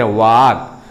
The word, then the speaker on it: walk: वाक में भी देखो, यहां ए वोवेल लेटर के बाद लगातार दो कॉन्सोनेंट लेटर है WALK, इसको वाल्क नहीं पढ़ते, वाक।